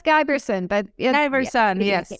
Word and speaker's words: Giberson: So today I brought a good friend and an expert, Giberson. Did I say it right? Oh, it's Giberson, but Giberson, yes.